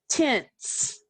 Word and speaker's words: tense: we have the word tense let's say it tense let's sound it out let's spell it t e n s e let's write